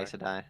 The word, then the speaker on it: Aes Sedai: Is that how they That's pronounce it in the show? by the movie. Aes Yeah, Sedai. Aes Sedai.